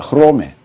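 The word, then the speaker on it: Ῥώμη: 근데 로마를 우리는 이렇게 발음합니다. 흐로메. 로가 처음에 시작했으니까 강기식으로 발음합니다. 그래서 흐로메라고 발음해요.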